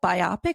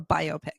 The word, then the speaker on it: biopic: you an industry professional is it biopic or biopic okay i wasn't sure i think you can say it either way okay who's going